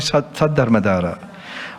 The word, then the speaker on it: Saddhammadhara: Not Dharmadhara, I'm sorry, Saddhammadhara.